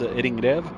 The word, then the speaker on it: ringrev: The proper pronunciation for that is ringrev.